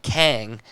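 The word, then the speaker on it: Qeng: say stark it says kang q-e-n-g but it's pronounced the same way and in the comics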